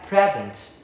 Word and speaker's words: present: When it is noun meaning a gift the stress on the first syllable pre present. Okay present. I got a birthday present. But why is verb meaning to give or show? The stress shifts to the second syllable.